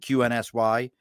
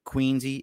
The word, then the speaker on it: QNSY: And I thought it was just drink QNSY. It's Drink Queensy is how we're going to pronounce it.